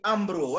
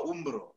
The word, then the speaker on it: Umbro: Kiarie Mbugua tosha hapa anasema Bram, pronunciation ni Umbro, acha uluya. Mimi nimesema Umbro. Hey.